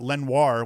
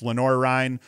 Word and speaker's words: Lenoir-Rhyne: lenore rein i think i've been saying it wrong someone told me it's not lenoir which sounds a lot cooler it's lenora rhine beats limestone 16-7 eric